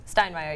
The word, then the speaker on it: Steinmeyer: Stunmeyer. Did I say it right? Steinmeier, yes.